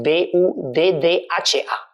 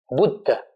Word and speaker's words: Buddha: Y por eso el título Buda, en español se escribe B-U-D-A, pero en sánscrito es B-U-D-D-H-A. Buddha.